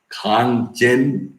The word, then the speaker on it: Kanchenjunga: It is quite difficult for me to pronounce such type of words, dear aspirants, but I have to pronounce. Okay. Kanchenjunga.